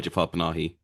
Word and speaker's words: Jafar Panahi: Uh, Jafar Panahi, is that how you pronounce it? Yeah, I was going to ask, have you seen anything else by Jafar Panahi?